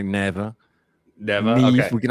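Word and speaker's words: Nevè: Neve, is that the pH neutral? Neva. Yeah, okay, yeah, that's snow in Latin. Snow. That's the difference between the Italian pronunciation and the North Carolina pronunciation.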